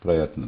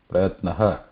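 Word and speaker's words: प्रयत्नः: Visarga, the way to pronounce it is just a release of breath. Light release of breath. Prayatna. It is not ha. Prayatnaha.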